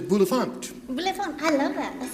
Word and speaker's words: Bulifant: I thought your accent was on the first syllable. What is it on? How do you spell it? Bulifant. But it's French for bel enfant.